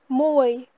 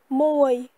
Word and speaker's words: មួយ: Pour dire 1, en cambodgien, on dit moe. Moe.